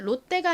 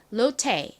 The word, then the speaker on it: 롯데: 그런데 선생님 여기 T가 있는데 그러면 롯데가 아니라 롯데라고 해야 되는 거 아닌가요? 라고 말씀을 하시는 분들이 있으실 것 같아요. 맞아요. 사실 이거를 그대로 영어식으로 읽는다면 롯데가 아니라 로테 이렇게 트 발음이 나지만 한국식으로는 롯데라고 씁니다.